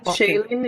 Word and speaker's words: Shailene: shane and lee yeah shaylene is correct chad is shayleen okay so do you